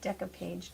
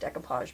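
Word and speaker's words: découpage: matte decopage decopage medium I was corrected by Deco art or I wasn't corrected they didn't call me and say hey you're saying it wrong I actually asked them and it's spelled funny on the bottle so I've been saying it completely wrong it's just decapage medium if you have anything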